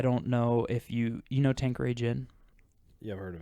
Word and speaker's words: Tanqueray: Tanqueray.